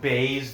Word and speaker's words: Buys: fight between jp bays i know it says buys but um he's a south african i believe it's pronounced bays that's what i've heard a